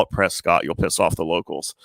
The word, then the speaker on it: Prescott: It's Prescott Valley, not Prescott. Even though it says Prescott, but it's yeah silent in a certain lettering to it.